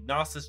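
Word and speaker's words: Gnosis: XD has been renamed the nosus chain the g is silent or if you run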